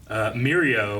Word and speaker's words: Mirio: I thought it was interesting that in a lot of the shots, Mirio, is that how you say his name?